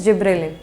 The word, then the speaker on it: gibberellin: सो इट is actually the correct pronunciation is जिबरेलिन।